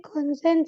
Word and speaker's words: kochen: Kan und Sophie kochen Spaghetti. Ya, richtig. Kochen, tapi ya Aussprache yang benar itu kochen.